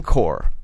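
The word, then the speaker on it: corps: you ever wonder now Marine Corp c o r PS right what the is that now they're silent why put why put one why put two silent letters there you ever think you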